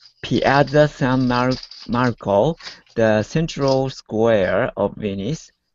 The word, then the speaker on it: Piazza San Marco: Oh, Piazza San Marco.